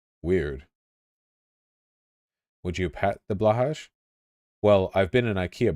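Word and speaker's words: Blåhaj: It's pronounced Blohai? Is that true? Weird. Would you pat the Blahaj? Well, I've been in IKEA before, so yeah. Blohe?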